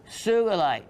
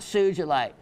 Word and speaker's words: sugilite: of incredible wessels mind sugilite and it is a hard G it is not sugilite poor Mr Sugi who discovered it in 1945 I believe